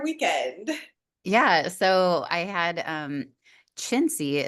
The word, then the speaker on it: Cinzia: So I had, Cinzia is how you pronounce her name. It looks like Cinzia, but she's from Italy.